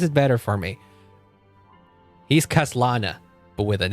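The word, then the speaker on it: Khaslana: don't really mean that if you just add an H at the beginning all of a sudden this part is pronounced differently. No, this should still be read as Kaslana.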